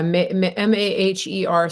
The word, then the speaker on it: Maher: How do you pronounce it? Mayor Bitar, yeah. Yeah, Maher.